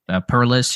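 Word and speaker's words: Perles: Perlis, who's the son of Steelers, great defensive line coach George Perlis.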